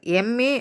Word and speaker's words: MA: ஏன் அப்படின்னா, இந்த எம்ஏ அப்படின்னு நம்ம சொல்லும் போது என்ன தான் இந்த எம் ஒரு கான்சன்ட்டாக இருந்தாலும் அதை நம்ம ப்ரனவுன்ஸ் பண்ணும்போது எப்படி உச்சரிக்கிறோம் அப்படின்னு பார்த்தா எம் அப்படின்னு உச்சரிக்கிறோம். அப்போ முதல்ல வர சவுண்ட் எது?